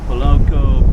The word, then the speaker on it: Malekula: It's just near the tuna works in Malekula Bay. That's how you pronounce it.